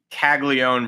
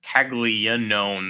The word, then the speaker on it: Caglianone: And I'm now finally getting used to Caglione versus Caglianone, the extra syllable or whatnot.